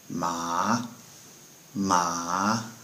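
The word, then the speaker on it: 麻: little dictionary list uh is pronounced with a rising tone so with ma it's said ma ma and that word uh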